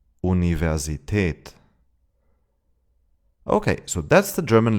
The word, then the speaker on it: Universität: In loan words of Latin origin, the V is pronounced like in English. Here are some examples. Vase, Vase. Nervös, nervös. November, November. Visum, Visum. Universität, Universität.